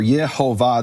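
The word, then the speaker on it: Yehovah: recording who say that the vowels are ye ho va this is the name of the creator of the universe and the true pronunciation some of them say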